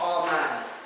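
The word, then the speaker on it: אמן: In the Hebrew, it's pronounced Amen. Amen.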